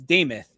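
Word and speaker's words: Demuth: Lisa, Lisa Deth deth, it's Damoth is how it's pronounced.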